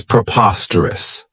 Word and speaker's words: preposterous: I really like is preposterous this adjective has four syllables and the stress is on that second syllable Preposterous remember that OS has that schah that sound this means that something